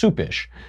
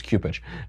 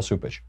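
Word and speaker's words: Cupich: But Cupish, I think it's actually pronounced Soupish, but people call him Cupcake, so then they think it's Cupish.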